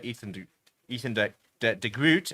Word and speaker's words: Ethan de Groot: Ethan de Groot, as they say.